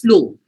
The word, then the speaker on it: flow: bit emphasized upon and also w here is a silent word no one says flow okay no one says pronunciation like that you pronounce flow so in terms of